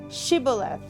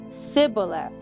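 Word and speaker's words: shibboleth: i'm not they would tell him to say shiboleth if he was from ibrahim he would say siboleth because people from ifram cannot pronounce the word correctly then they would take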